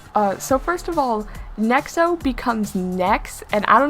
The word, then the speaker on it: Nexo: jarring they refer to nexo Powers as NEX powers and I I just I know why they did it but also is it really that hard to just say nexo even in Japanese it's